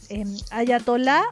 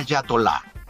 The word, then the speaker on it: ayatolá: A propósito de de lo que está pasando, eatolá o hayatola. En el último tiempo dice Fernando Sánchez que ha visto esta palabra escrita y pronunciada de estas dos maneras. ¿Cuál es la forma correcta? Pregunta. Claro. El diccionario prefiere a Yatolá.